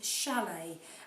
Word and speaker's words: chalet: some words where this c h is actually making a sh sound like chef and chalet and those are words that have come into our language from the french language which is why they're pronounced slightly differently now you won't find